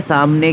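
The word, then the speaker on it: ث: हाँ, सा पतली आवाज़ आती, सामने के 2 दांत आकर के ज़बान के सामने के किनारे पर बैठना, सा।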